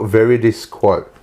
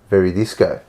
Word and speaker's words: Veridis Quo: That so it's spelt Veridis quote. That one there, right? Oh, yeah. Now say it fast. Veridis quo. Very disco. Oh, very disco. Very disco.